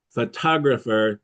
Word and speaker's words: photographer: Photographer the stress is in the second.